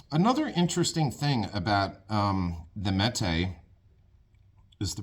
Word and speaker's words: Mete: And how do you pronounce Mète in Turkish? And you hit the little thing, and it's like Mète, Mète, Mète.